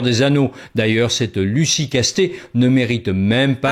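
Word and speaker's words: Castets: Anneaux d'ailleurs cette Lucy casté ne mérite même pas ah non il dit casté ok bah c'est c'est casté davantage notre Seigneur des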